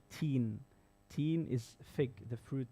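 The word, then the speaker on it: تين: And if you don't pronounce it well, you say deen, that's the religion, the lifestyle of a Muslim. So ta and dal, they're from the same makhraj, the same room, but one is light, and like they're pronounced different.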